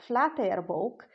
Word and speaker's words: Flateyjarbók: you an incredible treasure the flatware book or in the modern pronunciation flat Air book manuscript gks 1005 folio